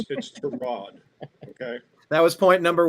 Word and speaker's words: Tyrod: It's Tyrod. Mr. Taylor's mother didn't name him after a car part. It's Tyrod.